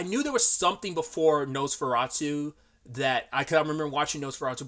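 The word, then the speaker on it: NOS4A2: It's pronounced Nosferatu, but it's spelled like that because it's based on a book of the same name.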